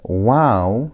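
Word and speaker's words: vav: The last example there is notice I'm saying, but there's no W there because wow simply is pronounced as W. that W sound.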